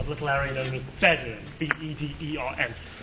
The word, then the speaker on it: Bedern: area known as Bedern, B-E-D-E-R-N. It's an old Anglo-Saxon phrase, actually quite difficult to pronounce in Anglo-Saxon. Just about remember my old English. I think it was pronounced Bedern.